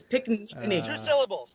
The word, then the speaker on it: Pinckney: We're good. It's Pickney. Two syllables. That's it.